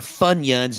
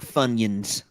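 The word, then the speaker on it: Funyuns: maret all right 24 the popular onion ring chips are funions not funions spelled fun yuns I think everybody knows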